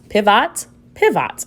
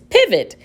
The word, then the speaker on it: pivot: Let's try with the short sound. Pivot. I don't know what that is. Let me try it with the schwa sound. Pivot.